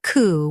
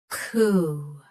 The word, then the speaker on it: coup: Say coup with a clean K start and a long ooh sound. Coup.